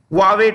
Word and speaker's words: Huawei: Huawei Technologies. That's how you pronounce it.